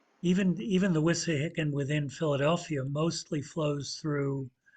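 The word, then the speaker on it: Wissahickon: right yes that's you thanks exactly right the wissa hicken in philadelphia in the city proper looked to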